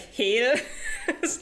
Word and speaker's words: Hel: constantly reading it like Hil I mean yeah that's how it's pronounced cuz it's a Germanic word yeah yeah but um